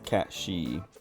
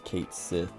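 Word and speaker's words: Cait Sith: I'm pretty sure like everyone has pronounced it everyone has like pronounced it and corrected everyone else who pronounces it wrong uh to pronounce it as as cat she or or however cat she but then they finally voice it and they just say Kate Sith um and it's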